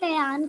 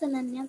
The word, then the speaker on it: Ananya: Ma'am, it's not Ayan, it's Ananya.